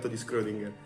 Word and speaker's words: Schrödinger: Isn't it SCHRödinger? SCHR, Schrödinger Ok, small note: it's Schrödinger (I was pronouncing it wrong lol) We have reached the end of today episode, guys!